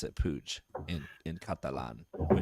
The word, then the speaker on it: Puig: In Madrid, you would say Puig. But in Barcelona, where he's from, it's Puig. It's a Barcelona. Yeah. So in Catalan, it's Puig.